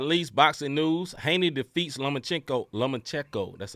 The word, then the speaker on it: Lomachenko: Haney defeats Lomachenko.